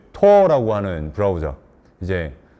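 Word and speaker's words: Tor: 그 토어라고 하는 브라우저 이제 본토 발음은 토어고 우리는 이제 토르라고 하는데 토르 브라우저를 통해서 들어갈 수 있는 일종의 굉장히 어두운 공간이죠.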